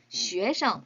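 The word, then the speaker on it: 学生: 근데 요 학생 할 때 생은요, 성조가 없이 친구처럼 벙여일 듯이 学生 이라고 읽어주셔야 합니다.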